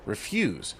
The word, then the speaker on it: Refuse: waste what an odd name for an exhibit refuse we certainly weren't refused entry to padina Bond's